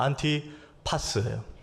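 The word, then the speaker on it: Ἀντιπᾶς: 오늘 안디바요.이 안디바가 원어로 발음하면 이렇습니다. 안티파스예요.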